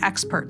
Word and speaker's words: Xpert: is talking about is called the expert test that's spelled XP RT and it's manufactured by